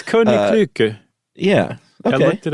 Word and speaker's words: Koninklijke: It's Koninklijke.